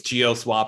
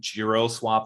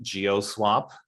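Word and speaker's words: GeoSwap: know how that's pronounced i think it's geo swap i keep saying giro swap for some reason but it's definitely geo swap and yeah we've definitely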